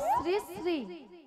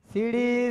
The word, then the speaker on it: শ্রী: সিড়ি সিড়ি সিড়ি সিড়ি সিড়ি সিড়ি সিড়ি সিড়ি সিড়ি সিড়ি আমি কি সিঁড়ি সিঁড়ি বললাম? আমি কি বলেছি? শ্রী শ্রী। বলো শ্রী শ্রী। উচ্চারণ করো। তুমি ঠিক করে উচ্চারণ করো।